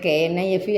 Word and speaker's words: knife: ആ സൈലൻ്റാണ് K അവിടെ എന്ന് പറഞ്ഞതുപോലെ ഇതുള്ളൂ.